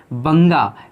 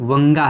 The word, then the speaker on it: वंगा: उसमें बंगा, इसका शुद्ध जो उच्चारण है वो मूल उच्चारण वंगा है।